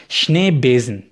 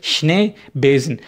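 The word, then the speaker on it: Schneebesen: देख सकते हैं कि जो बेजन है वो बेसिकली उसमें आप एस देख रहे हैं लेकिन उसकी साउंड जो है वो जेड की तरह आ रही है, वो इसलिए क्योंकि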